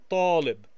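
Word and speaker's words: طالب: Notice again we have an emphatic letter here. The letter T has a dot underneath, and so that's going to have the emphatic sound ta, ta, talib. It has kind of a cloudy sound, we might say, talib.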